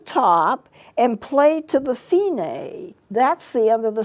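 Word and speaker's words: Fine: it's belt if I am e but it's pronounced Fein a put that line there and that's the end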